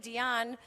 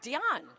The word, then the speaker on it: Dionne: last because her name every she's named after Dion Warwick okay and so and because it's pronounced Dion this cross talk is so have we been